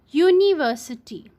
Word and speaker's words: university: sound like for example University so here you is a bubble word but it does not have a bubble sound that's why we write